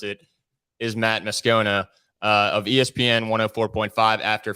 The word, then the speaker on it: Moscona: name is set on the radio as Matt moscona but the more common way to pronounce it is Matt muscona uh of ESPN 104.5 after further review that's